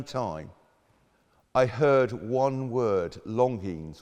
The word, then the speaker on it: Longines: I heard one word, Longines, or Longines it's pronounced.